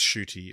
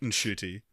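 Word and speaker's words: Ncuti: Did you hear about how he was like, he did this like video on how to pronounce his name, and he was like, it's Shooty, it's a silent N.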